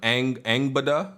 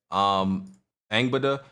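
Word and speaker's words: Angrboða: And they released some character images of Angbada. I think that's how you say her name. The R is supposed to be silent, I was told. Angbada, which I don't think this is spoilers.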